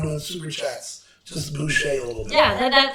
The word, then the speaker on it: Boucher: Once again, Boo Shay. So that's BOO space SHEA. Now, boo him as much as possible because that's what we really need. We're not doing super chats. Just boo Shay a little bit.